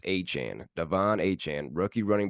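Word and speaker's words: Achane: a Chan now it's it's been pronounced a chain for a while the rookie running back for the Dolphins but I guess he came out of the game says it's pronounced a Chan Devon a Chan rookie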